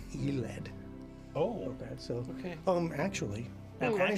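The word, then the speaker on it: Yled: Because I've been this whole time calling the city of Iled, Yoled, right? Like I've been pronouncing it like Yoled, and it's Eled.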